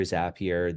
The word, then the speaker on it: Zapier: So, Zapier, which can be pronounced Zapier, Zapier.